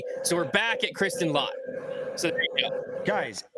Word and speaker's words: Lott: He said, you say it like latte without the E. So we're back at Kristen Lott.